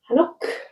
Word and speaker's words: hanok: Hanok, without the k sound at the end.